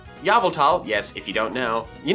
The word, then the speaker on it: Yveltal: Number two, you shall pronounce Yveltal, Yveltal.